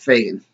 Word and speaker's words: Fagin: I'm pronouncing that Fagin because, well, pronouncing it any other way would probably be offensive.